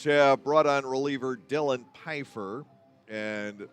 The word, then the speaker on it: Pfeiffer: The Long Island Ducks have brought on reliever Dylan Pfeiffer, and that is the correct pronunciation of the name, I am told. There is no first F.